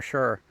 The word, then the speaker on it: Suir: So it sounds like I'm saying Suir as in S-U-R-E, right? But it's spelled S-U-I-R.